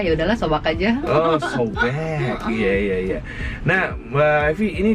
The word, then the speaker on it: Sobag: Sobak apa Sobek? Sebenarnya aslinya sobek. Sobek. Oh, kedengarannya kayak sobek gitu ya. Ternyata tulisannya S-O-B-A-G. Sobek. Karena kebanyakan customer ngomongnya sobak gitu, akhirnya ya udahlah sobak aja. Oh, sobek.